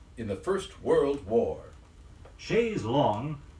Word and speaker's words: chaise longue: the First World War chaise longue is a French term which has been somewhat Americanized in pronunciation but hasn't taken our final citizenship papers the first word is pronounced shades CH a is e and means of course chair and the second word long l om gue means of course long it's a sort of